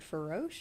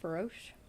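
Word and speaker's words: Farosh: that in the distance is the Spirit Feroche, I believe is how it's pronounced. Feroche.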